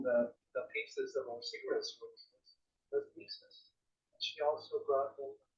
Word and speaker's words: Isis: I said Isis, because that's really how her name would have been pronounced.